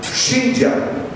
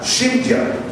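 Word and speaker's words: שמחה: Gozo significa shimja. Se escribe S-H-I-M-K-J-A, shimja.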